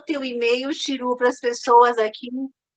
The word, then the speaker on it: Xirú: Tu pode falar o teu e-mail, Chiru, para as pessoas aqui É escrever? Chiru, com Chiru X, com né?